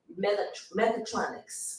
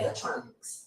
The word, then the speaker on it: mechatronics: didn't look it up so pronounce it again first of all megatronics okay mechatronics okay mechanics and electronics oh okay that's what